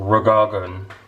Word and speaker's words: Reagan: No, actually it's pronounced Ronald Reagan. Reagan. That's right.